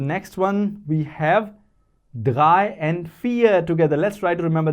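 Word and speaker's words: vier: dry three and four dry fear because v is pronounced as f four and the next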